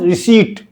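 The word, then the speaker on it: receipt: पी कहां लिखा इसमें? तो मैं आपको बता दे रहा हूं। रिसीप्ट हम लोग बोलते हैं नहीं इसको लिखते हैं रिसीप्ट spelling but इन the pronunciation I pronounce रिसीप्ट pronunciation में पी का प्रयोग नहीं करते हैं।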